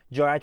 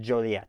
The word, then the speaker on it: Joliet: Those are the rough syllables of Joliet. So you got J-O, Joe.